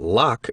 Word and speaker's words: Locke: I read Hume and Locke, and partly understood them, I think, though I did not know that Locke is pronounced in only one syllable till many years after I had read and reread parts of the Human Understanding.